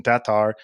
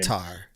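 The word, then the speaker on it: Tattar: with Kristen Tatar and I'm trying to pronounce it like Terry Miller does I'm doing my best I'm probably still gonna butcher it uh but trying to do my best to uh how Kristen and estonians uh pronounce her last name Tatar Tatar Tatar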